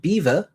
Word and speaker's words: Belvoir: Belvoir is pronounced beaver.